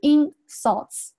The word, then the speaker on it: insults: 那接下来呢，我们来看一下本段所涉及的一些发音常识。首先呢是第一句话，the insults，注意下这个 the 发声变音，the insults，注意下这个单词哈，在做名词的时候，它前面重读 insults，变成这个动词的时候，它后面要重读 insults，然后这个地方连读 the insults，然后这个地方是。Insults, 然后 criticism,